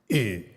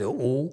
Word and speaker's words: yu: Another thing is the yu sound, okay, yu, jie, okay. Especially the many Korean Sunims, they mispronounce the yu sound, okay. They always pronounce it u.